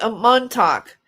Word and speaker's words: Montauk: Man talk. Is it pronounced man talk? Montauk.